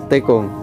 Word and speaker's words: Tekung: Oh penyebutannya Tikung. Tikung. Oh tulisannya Tekung. Oh Tikung ya teman-teman. Kecamatan Tikung. Tikung. Tekung. Tekung. Oh logatnya berbeda ya teman-teman. Pengucapannya aja, tapi sama maksudnya sama.